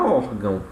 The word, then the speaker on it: órgão: Prova disso é aqui a palavra órgão, certo? O or, né, é a nossa sílaba tônica e o gão, obviamente, vai ser a sílaba átona da palavra, ok?